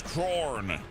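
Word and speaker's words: Khorne: Chrome is pronounced like the band Corn. Oh, it's Corn.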